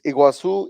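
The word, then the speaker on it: Iguaçu: I was in Fosa Iguazu is Iguazu is how you say it in Portuguese.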